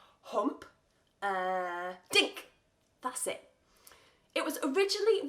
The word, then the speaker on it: Humperdinck: the composer Engelbert Humperdinck you can say it like this hump dick try that with me hump dick that's it it was